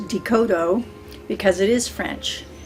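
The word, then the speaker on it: Descoteau: spelled how it sounds decoto because it is french it's spelled d-e-s-c-o-t e-a-u the s is silent and growing up that name got butchered all the time desktop descatto uh what they want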